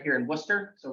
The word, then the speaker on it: Worcester: um but it's it's all these letters uh in Wooster are like not really that necessary it's really English um